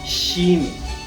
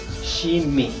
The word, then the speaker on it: shimi: h i n i Jimi tal como se pronuncia los ingleses o los angloparlantes sí que van a pronunciar pronunciar muy bien porque con ellos compartimos la sh al igual que quichua sin embargo en español